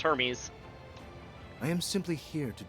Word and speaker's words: Hermes: Clear clearly named after the Greek god uh which is pronounced Hermes.